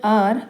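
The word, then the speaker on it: hour: sound and the word आर starts with the wall sound because the एच is silent here so before the word आर we will use एन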